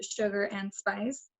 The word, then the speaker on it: Sugarxndspice: identity around myself as sugar pronounced sugar and spice for quite a couple